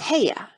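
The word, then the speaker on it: Haigha: His name is Heya." He pronounced it so as to rhyme with mayor.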